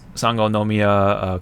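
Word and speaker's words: Sangonomiya: officially been revealed um sango nomia kokomi very long mouthful of a name but just look at sango and uh nomia and try to pronounce them together yeah so there you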